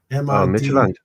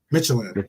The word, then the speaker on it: Midtjylland: How do you pronounce the Midland, right? Isn't that how you pronounce it? Midtjylland. Midtjylland, yes.